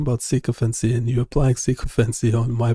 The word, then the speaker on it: sycophancy: The si bit sounds like si, not sick. Give it- and knee. Sycophany? Sycophany? Close, but it's sycophancy. Stress on the first syllable.